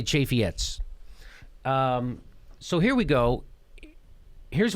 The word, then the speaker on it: Chaffetz: Do you say Chaffee or Chaffetz? I say Chaffetz.